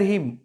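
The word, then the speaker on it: hymn: Next chapter आपका fire हिम। Fire का मतलब होता है आग, और इसे हीमन नहीं हीम पढ़ना है। एम के बाद जब कभी एन आता है तो वो एन साइलेंट होता है।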